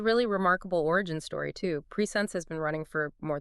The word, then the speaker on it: PreSense: That's Preense pronounced in two distinct syllables, right?